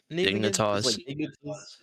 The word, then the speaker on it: Dignitas: Dignitas.